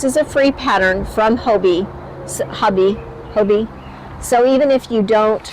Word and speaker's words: Hobbii: I think they pronounce this Hobbii. I say Hobbii.